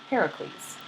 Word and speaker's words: Heracles: So she left her role of cupbearer to marry Heracles.